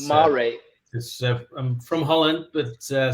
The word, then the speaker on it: Mare: of saying what what the surname how you pronounce it properly absolutely it's mari it's mari i'm from holland but uh somewhere a long